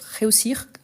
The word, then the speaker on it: réussir: vous réussissez ils réussissent attention parce qu'ici c'est russir ici c'est réussi c'est vrai que quand on prononce dans un contexte on n'entend pas trop le r mais il est là donc réussir je vais réussir mon